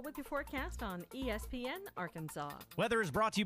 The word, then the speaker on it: Arkansas: I got that one, and that's how you pronounce it, ain't Arkan. It's Arkansas, baby.